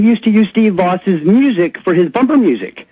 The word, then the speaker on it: Vaus: Anyway, I was Let me tell you how you spell it, folks. It's V-A-U-S. Steve, V-A-U-S, Voss.